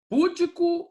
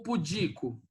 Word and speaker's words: pudico: Tá vendo que a pronúncia normalmente seja, ó, misântropo, né? Não, não é. É misantropo, tá certo? Depois, púdico ou pudico?